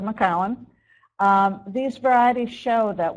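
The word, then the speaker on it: McIntosh: Jonna gold and maowen don't pronounce it mcon you can tell your from upstate New York if you say McAn instead of maau um these varieties show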